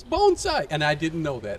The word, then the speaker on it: bonsai: in Cockeysville, and we're going to talk about bonsai. Here's the funny story about this. From last year, Carrie, when I was doing the segment with her, I said bonsai, like everybody else, and she said, no, it's